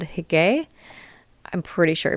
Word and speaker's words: hygge: But there's a great practice from Denmark called Hygge. I'm pretty sure I pronounced that right. It's spelled Hygge. Again, it's in the article, but I'm pretty sure it's pronounced Hygge.